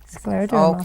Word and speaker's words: Scleroderma: This is brand new to us because I'm hoping I'm pronouncing the name right. Is it Scleroderma? Scleroderma.